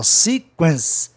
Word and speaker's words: sequence: Sequência, em inglês, só tem duas sílabas, ó, sequence.